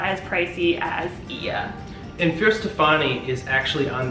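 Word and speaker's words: Oia: There was a boat tour company called Sunset Ia. Ia is spelled O-I-A.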